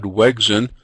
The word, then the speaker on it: Wegrzyn: pronounce his name, and he said that the R is silent, so I think Bad Wegrzyn is probably the wrong way to say that, so I'm going to introduce him as Brad Wegrzyn.